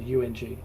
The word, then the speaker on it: Bundjalung: I've got to say it correctly because it is Bundjalung.